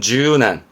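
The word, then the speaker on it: 柔軟: 발음은 준한, 예?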